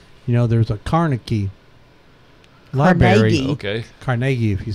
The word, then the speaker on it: Carnegie: Carnegie, if you say it correctly.